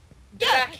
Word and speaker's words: draakje: Draakje. Drag it. Yeah, you pronounce it exactly like we do there.